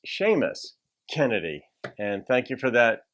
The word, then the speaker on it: Seamus Kennedy: And so anyway, I think I pronounced it Seamus Kennedy on the last one. It's Seamus Kennedy.